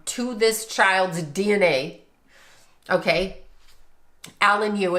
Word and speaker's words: Yu Menglong: Alanu as we're saying it or you men long as it's pronounced in his language.